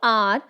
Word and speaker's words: hour: Here, H is silent in hour.